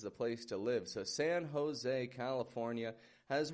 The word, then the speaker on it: San Jose: And what I'd like to point out in this place here, San Jose, when we pronounce that "and," the A and the N, notice how I'm stretching that out.